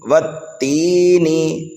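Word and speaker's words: وَالتِّينِ: لیکن اگر آپ والتینی کی ہجے کریں تو الف لام کو چھوڑ دیں، کیوں کہ اس پر کوئی حرکت نہیں ہے. اس طرح سے جو ہے آگے بھی دیکھ سکتے ہیں. تو والتینی کی ہجے بالکل آسان ہیں. واو تا زبر وت، تا یا زیر تی، وتی، نون زیر نی، والتینی.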